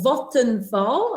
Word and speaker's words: Vattenfall: Clearly a lot of experience, many years in the change and project management space, now most recently for Vattenfall. I hope I've pronounced that correctly. Vattenfall, yes, you did great.